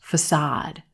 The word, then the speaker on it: facade: this word is pronounced facade facade a lot of times again a native speaker might stress this word incorrectly facet or use a